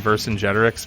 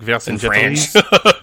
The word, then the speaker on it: Vercingetorix: Charette, said it, which is sort of a weird combination of the Latin and the French pronunciation. So, like, in French, it's like Vercingetorix. In French, Vercingetorix. So that's how he always actually said Vercingetorix. That's how he called him.